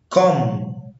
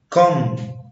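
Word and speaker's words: comb: لا ينطق حرف بي اذا جاء قبله حرف ام، يعني حرف بي ما بينطقش لو جه قبليه حرف الام. مثل كوم كلايم بوم دام بلامر. اجين كوم كلايم بوم دام بلامر. يبقى ان هو عشان البي جه بعد الام ما تنطقش، بس في استثناءات للقاعدة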